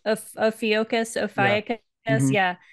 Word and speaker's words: Ophiuchus: Ophiuchus. Ophiuchus.